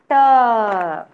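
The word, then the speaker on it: ट: Next is Ta. How I told you to pronounce Ta, children? Ta, how will you pronounce? Namaste, ma'am. Yeah, you will roll your tongue and pronounce ta.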